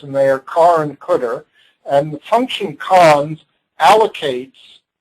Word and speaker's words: cdr: the cter CDR and it's pronounced cter now uh these names